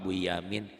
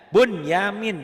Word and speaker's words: Bunyamin: Saya mau ke rumah Pak Buyamin. Kenapa Buyamin kan di Quran nun mati ketemu ya idgham. Iya, tapi idghamnya menjadi idhar. Bunyamin jangan Buyamin kan.